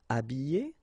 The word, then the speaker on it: habiller: Habiller, habiller, déshabiller, déshabiller. Okay, so you can see that here, this H here, this letter is not pronounced, so habiller and then déshabiller.